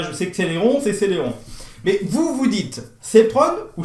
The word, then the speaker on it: Celeron: Bon, ça, je sais que Celeron, c'est Celeron.